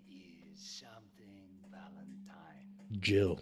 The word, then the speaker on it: Jill: Jill. It's Jill. Nice to meet you. It rhymes with Hill.